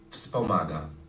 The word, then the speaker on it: wspomaga: So you have wspomaga, right? So the stress is in Polish is in the second to the last syllable usually.